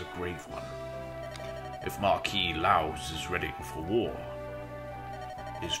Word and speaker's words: Lao: I think I've been pronouncing his name Laos, but I think it's like Lao, actually.